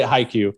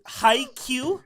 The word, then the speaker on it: Haikyuu: Please say Haikyuu. Haikyuu, like not spelled this way, but like Hiq.